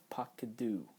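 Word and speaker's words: פָּקְדוּ: We're retaining that comets, and that metheg is telling us not to rush it and not to pronounce it as a closed syllable, but in fact it's an open syllable.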